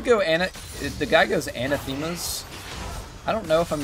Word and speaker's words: Anathema's: to drive me insane it's anathema's anathemas yes really yeah oh that's